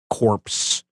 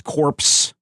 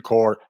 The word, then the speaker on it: Corps: What's going on with the Green Lantern Corps? Number one. The P is silent.